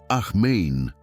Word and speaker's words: amén: Ella decía ahmain con énfasis en la última sílaba, porque ahmein en hebreo significa así sea, que así se haga.